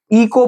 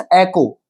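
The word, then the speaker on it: echo: वो लोग इस शब्द को इको पढ़ते हैं। जबकि ये इको नहीं होता है। इट्स एकको। इट्स ऐको करेक्ट प्रोनंसिएशन होगा इसका ए को।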